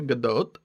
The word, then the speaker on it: Gadot: in december of 2013 gal gadot that's how she pronounces it i got shit about